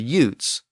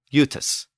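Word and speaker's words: Iutae: the ones in Britain it was actually spelled by be in Latin as i u t AE so the actual pronunciation would have been Ute so let's go back the original pronunciation of the gits was something like yatus and the original pronunciation of the jutes was something like utus yatus and utus you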